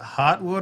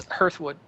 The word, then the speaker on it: Hearthwood: Is it Heartwood or is it Hearthwood? it's Hearthwood.